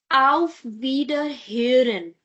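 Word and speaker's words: Auf Wiederhören: Al Verhin. Al Ver is going to be absolutely same. The only change is of this word here.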